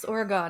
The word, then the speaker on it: Oregon: Oregon Oregon Oregon so pretend that o is an i yes I mean yeah and Crush those vowels just they're gone just you don't need that second one it's just Morgan Oregon I'm probably still gonna